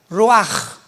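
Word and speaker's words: רוח: Apunta la palabra espíritu en el hebreo es como suena roach. Raúl u a c h. Pero la ch en el hebreo se pronuncia como j. Roaj.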